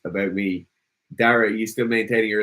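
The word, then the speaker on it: Daire: Someone's asking, is it Dare or Dara? It's Dara. Even though it's spelled D-A-I-R-E, which means O in Irish.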